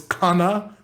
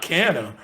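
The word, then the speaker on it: Canha: and found out that mark marcanna is not his name is khanna or something like that it's not pronounced that way he's portuguese and uh not cannon so like it's the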